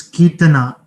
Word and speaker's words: Kirtana: Okay, it's Kirtana. I was pronouncing that as Kirtana. So maybe yes. Now I'm pronouncing that correctly.